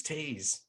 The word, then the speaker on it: Thies: His name is spelled T-H-I-E-S, but I thought he was called Thies until I actually met him, and he looked at me when I said, "Nice to meet you, Thies," and he went, "My name's Tees."